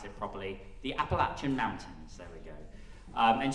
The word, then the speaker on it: Appalachian: I need to pronounce it properly. The Appalachian Mountains, there we go.